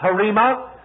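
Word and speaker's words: rhema: spelt rh ema in the greek but it's pronounced harimah and here the reference is not to the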